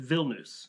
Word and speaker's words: Vilnius: And by the way, in English, people often will say Vilnius, which is fine in English, but in Lithuanian, it's pronounced Vilnius.